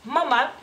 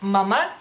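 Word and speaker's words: mama: en vez de madre en lituano es mamá nomás que no lleva acento en la segunda y en español ustedes la pronuncian como que un poquito como es más larga digamos que la segunda ustedes dicen mamá y el lituano es mamá las dos son cortas entonces amotina es madre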